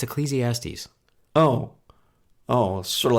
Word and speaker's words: Ecclesiastes: first podcast which was ecclesiastics and that was it after that yeah and what's really interesting is you've never pronounced it correctly how do I say it it's Ecclesiastes oh oh sort of